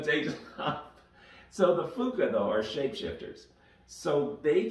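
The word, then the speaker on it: Phooka: I settled on using the phrase Fuka. It's P-H-O-O-K-A because I kind of like that pronunciation.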